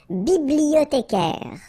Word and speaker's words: bibliothécaire: Then un bibliothécaire, remember in French the H doesn't exist, so you don't pronounce it.